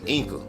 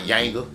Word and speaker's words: Ynga: I just had to bring this about Gaspar Inca, not Yanga. Gaspar Inca. Say it like it is.